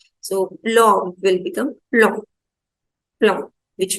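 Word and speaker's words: plomb: Okay, so OM will be pronounced as O and B will be silent. So plom will become plom, plom, which means metal.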